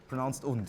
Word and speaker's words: und: So in case you didn't know, this is the German word for and it's pronounced und.